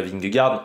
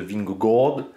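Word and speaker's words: Vingegaard: bon tout le monde dit à peu près ving Gard en réalité il faut dire une sorte de ving g normalement du côté de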